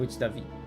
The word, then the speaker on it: Davi: So, if you don't know it's a person from Brazil or from Portugal, you would just say David even though it's Davi.